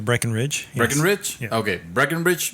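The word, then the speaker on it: Breckenridge: porter uh bre from breckenbridge Brewery is that how how you pronounce it I think it's Breen Ridge Breen Ridge okay Breen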